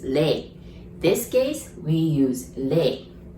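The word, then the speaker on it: 零: pretty easy so zero there are two ways of saying zero right the first way is zero or second way is lei this case we use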